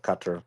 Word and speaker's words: Qatar: to geography now for teaching me the proper pronunciation of cutter because uh uh rap's full of [ __